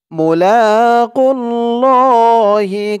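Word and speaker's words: مُلَاقُو اللَّهِ: খাড়া জবর আন্নাহুম মুলাকুল্লাহি এখানে থামলে উচ্চারণটা হবে মুলাকুল্লাহ এই খারা জবর এক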